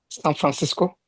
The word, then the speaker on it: San Francisco: I want to see the Francisco. stress. Huh? San Francisco. San Francisco. San Yeah. Francisco. Because the stress is on the Francisco at the same time, okay?